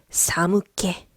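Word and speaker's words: 寒気: 자, 한기는 사무케. 자, 우리 아까 전에 촉 얘기했었던 키. 근데 지금은 케라고 읽어요.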